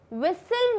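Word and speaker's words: whistle: विसल में T silent होता है तो वैसे ही बसल होता है एंड यहाँ दो बार बसल लिख दिया, हम हसल लिख सकते हैं.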